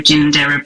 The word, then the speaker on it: Ginninderra: She is the CEO and publisher of Ginander Press and please correct me Deb if that is not the correct pronunciation but we'll get to that.